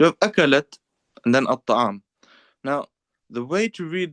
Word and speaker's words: الطعام: The lam is not even pronounced as well, so we forget that. So that doesn't exist. These two do not exist in pronunciation, so we don't need to worry. Now the ta has a shadda, at-ta'am.